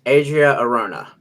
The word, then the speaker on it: Adria Arjona: I believe it's Adria Arjona.